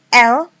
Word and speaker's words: elle: Kemudian elle yang di belakang tidak dibaca atau tidak diucapkan. Jadi elle, dia perempuan.